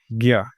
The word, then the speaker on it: ज्ञ: जो उच्चारण से सीधे तौर पे समझ में नहीं आएगा वो ये है ज्ञ क्योंकि ये ज और ञ से मिलके बना है। हमेशा ध्यान रखिएगा आप इसे ज्ञ कहते हैं।